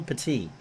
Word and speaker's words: Petit: shaw and pati and it's not petted it's not bob headed spelled the same way but it's michelle petite bobby smith and devloa